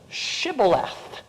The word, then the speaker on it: shibboleth: much softer pronunciation whereas the jews down in spain the sephardic jews this is an s and that's a t so you have sybilette or shibboleth and we can tell